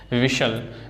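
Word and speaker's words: whistle: ऐसे ही silent T है। अब कैस्टल, कैसल, लिसन, विशल, तो इसमें पता है टी साइलेंट है, इसको हम नहीं प्रोनाउंस कर रहे हैं, ठीक है।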